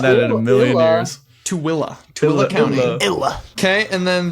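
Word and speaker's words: Tooele: So, it's actually Tilla. Oh, isn't that would have gotten that in a million years. Tilla Tilla County.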